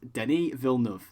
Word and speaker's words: Denis Villeneuve: So it is, for anyone who's wondering, it is Denis Villeneuve. That is the official pronunciation from him.